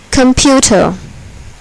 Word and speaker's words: computer: Here, the second syllable is accented. Adjustable. Computer.